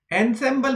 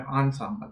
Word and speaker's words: ensemble: तो दोस्तों इसको एनसेम्बल मत बोलिए, मैं भी पहले इसको एनसेम्बल बोलता था, फिर मैंने इसका प्रोनाउंसिएशन चेक किया तो ये एनसेम्बल नहीं होता है, इसको ई एन प्रोनाउंस नहीं करना है, इसको बोलते हैं ensemble। ये आ की आवाज आनी चाहिए इसमें, ensemble।